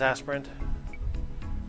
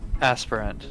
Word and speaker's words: aspirin: who one who aspires pronunciation aspirant it is aspirant aspirant okay the American Heritage dictionary of the English language fifth edition pronounces it that way understood the ibuprofen